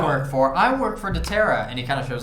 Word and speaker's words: doTERRA: for i work for doterra and he kind of shows the logo uh can i roll over here can i roll a culture check sure give me a call actually it's pronounced the tara you know that this